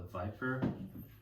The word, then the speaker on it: VIPR: This is called the Viper. So it's spelled VIPR.